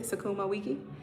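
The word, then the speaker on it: sukuma wiki: I could probably get Sakumaiki. Is that how you pronounce it? Sakuma Wiki.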